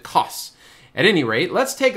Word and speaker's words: Kos: island of coss greece it's kos i think you pronounce it coss at any rate let's